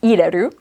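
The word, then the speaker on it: 入れる: Ireru has that re hiragana character in there. That's kind of what tells you, it's supposed to be pronounced ireru.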